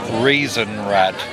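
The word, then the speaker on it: Rathaus: Right, just to let you know this market is Reason Rad and good authority that's the correct way to pronounce it. This is Reason Rad Christmas Market.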